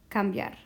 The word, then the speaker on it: cambiar: For example, cambiar. So the strong a overcomes the weak e, and together they make one syllable.